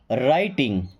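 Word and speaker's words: writing: अब राइटिंग में देखिए डब्ल्यू हमारा साइलेंट होता है, यानी कि आर के पहले कभी भी डब्ल्यू आ जाए तो डब्ल्यू रहेगा साइलेंट, यानी उसको नहीं पढ़ा जाएगा।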